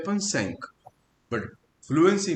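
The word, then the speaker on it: cinq: और इंडिविजुअली से 5 को पढ़ते हैं अपन सैंक, बट फ्लुएंसी में, प्रोनाउंसिएशन में ये सैंक का बन जाता है सैसो।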